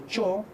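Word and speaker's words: -chaw: En el locativo, por ejemplo, utilizamos nosotros el quechua de Ancash, el sufijo chao, que se pronuncia como cho, por la monoptongación.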